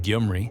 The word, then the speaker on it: Gyumri: Russia maintained its 102nd Military Base in Gyumri , near the Turkish border (which is another